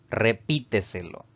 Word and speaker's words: repíteselo: Repíteselo. Es una palabra que tiene también 5 sílabas, pero la mayor fuerza de voz al pronunciarla recae en la sílaba llamada antes de la antepenúltima, contando de derecha a izquierda.